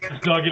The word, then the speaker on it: Duggan: Did I pronounce that right? It's Duggan, and that's fine.